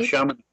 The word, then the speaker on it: Chaminade: You hold an MBA degree from how do I pronounce that? Is it Chaminade University? Yeah, Chaminade.